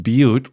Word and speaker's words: Butte: question, I can confirm my maiden name is pronounced Butte, like the land form.